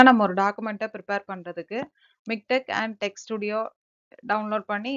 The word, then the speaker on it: MiKTeX: இப்போ நம்ம மிக்டெக்னா என்னன்றது பார்க்கலாம். மிக்டெக்ஸ் அப்படின்னு சொன்னாலும் ப்ரொனவுன்ஸ் பண்ணும்போது என்ன சொல்லணும்னா மிக்டெக் அப்படின்னு தான் சொல்லணும்.